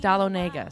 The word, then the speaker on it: Dahlonega: you spell that for Dahlonega like Dahl Onaga so da HL ome